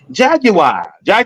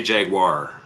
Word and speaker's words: Jaguar: selling the Jaguar, and he kept saying Jaguar. I'm like, well, I've been saying it wrong my whole life. That's how the British pronounce it. I'm Canadian. We say Jaguar.